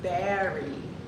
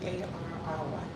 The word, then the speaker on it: Barry: And I was, I've been jamming to, I said, it's Barry. There's a way you pronounce that. Barry White, B-A-R-R-Y, Barry. Barry White. I bet a New Yorker says it really with that nice accent.